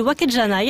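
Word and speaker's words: わけじゃない: C'est d'ailleurs l'expression wakede wanai, prononcée wakejanai à l'oral, qui est utilisée dans notre extrait.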